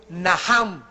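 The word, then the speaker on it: נחם: La primera palabra que se usó en el Antiguo Testamento es naham. En el hebreo que se escribe nach. La ch en el hebreo se pronuncia como J y significa cambiar la manera de pensar.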